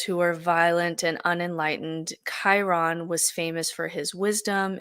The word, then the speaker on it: Chiron: turn to Chiron and it's spelled c-h-i-r-r-o-n it's pronounced Chiron who's a centaur and so he's the son